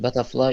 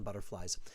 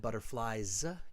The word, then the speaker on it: butterflies: I had butterfly in my stomach the first time I used it. Pronounce the S on butterflies. I had butterflies in my stomach the first time I used it.